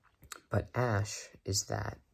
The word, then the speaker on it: æsc: So, you're like, well, how does S-C give us the sh sound? Well, probably wasn't pronounced that way in Old English or even Middle English. But in Modern English, it is pronounced that way because of an interesting thing.